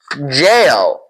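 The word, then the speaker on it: gaol: Jail. And you probably already know what a jail is. It literally means jail. It's pronounced the same way as jail.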